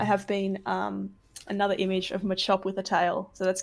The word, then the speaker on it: Machop: I have been another image of Machop with a tail.